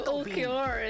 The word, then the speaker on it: Ulquiorra: See, I know who Ulquiorra is because I know I've seen him.